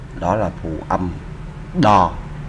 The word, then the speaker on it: ដ: đó là phụ âm đò. Đây là chữ đo nha các bạn. Đò, mình đọc là đò.